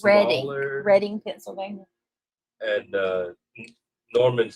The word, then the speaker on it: Reading: And it is pronounced Reading Reading, Pennsylvania.